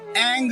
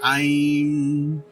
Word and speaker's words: ऐं: तो यहाँ एंग का कोई मतलब नहीं है, ये कोई मंत्र नहीं हुआ। हालांकि कई पंडित एंग बोलते हैं, परंतु वो गलत होगा। सो उच्चारण है आइम।